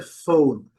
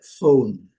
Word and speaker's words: phone: A gente vê que não se pronuncia a letra e ao final da palavra. Então, a pronúncia é phone.